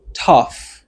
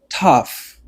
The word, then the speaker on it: tough: son or qui longue alr son ça que prononcer mo dit c'est tough ouais tough tough tough this is the right pronunciation